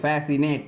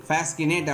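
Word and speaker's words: fascinate: இடத்துல C silent ஆகுது இதுல வந்து மஸ்கில் பாஸ்கினேட் அப்படின்னு சொல்லக்கூடாது சிக்கு சவுண்ட் கொடுத்து சொல்லக்கூடாது ஏன்னா எஸ் சி காம்பினேஷன்ல வந்தாலே அந்த இடத்துல என்ன ஆயிருது சி சைலென்ட் ஆயிருது நெக்ஸ்ட் நெக்ஸ்ட் ரூல் பாருங்க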